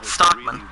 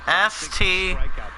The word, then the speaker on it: Stockman: No, Stockman. It's pronounced as S-T-O-C-K-M-A-N.